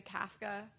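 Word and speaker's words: Kafka: US like C kofka we'll say kofka and then my brother-in-law will say CFA and he's Scottish and and then in Czech or whatever it would be like somewhere in between but then like our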